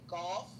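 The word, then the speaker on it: Gauff: It's not really actually golf, but it sounds like the word golf, but it's G A U FF or something like that.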